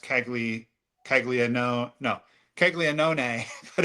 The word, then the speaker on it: Caglianone: It's spelled Caglianone, but it's pronounced Caglianone. No, Caglianone, but it's Yeah. Caglianone is how you say it.